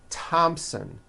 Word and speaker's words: Thompson: Although these next words and names are spelled with a TH, they are pronounced as if they were spelled with a normal T, like that. And these words are Thomas, Thompson, Teresa, Thailand, Thames, like the river, Esther, and thyme, which is a spice.